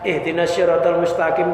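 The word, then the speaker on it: اهدنا الصراط المستقيم: Ihdinas syiratal mustaqim, sin tipis, enggak shad. Itu maknanya ya Allah tunjukkanlah kami ke kepiting yang lurus.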